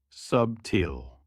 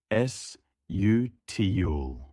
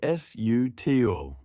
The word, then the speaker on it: subtle: Wrong, subtil. Correct, sutil. The B is silent. Say sutil.